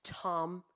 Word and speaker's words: Thom: So she came onto the roadcaster, and I said, "Oh, and Sandy Thom, I pronounced the H." Yeah. And she was like, "It's Tom.